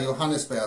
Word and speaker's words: Johannisbeere: Right, well, the name of this is Echter Nordhäuser Johannisbeere Likör.